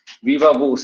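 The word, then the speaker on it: viva voce: वूस, वीवा वूस, VOCE, वीवा वूस, इसका pronunciation है वीवा वूस, वीवा, वो बिल्कुल सही स्पेलिंग है VOCE, ठीक है, वीवा वोस।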